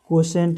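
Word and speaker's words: quotient: तो जो है कि कशेंट इसका इसका सही उच्चारण कशेंट है।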